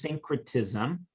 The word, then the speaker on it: syncretism: and she uses it the word is syncretism and it's spelled just like when your voices get in sync with one another secretism is when one